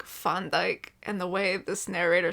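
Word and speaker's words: Van Dijk: Van Djk, but with the accent, it's pronounced like Fondike. And the way this narrator says it, it sounds like Mrs. Fun Dyke.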